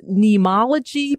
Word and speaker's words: Neimology: Do you call this neimology? Pronounce what it's called.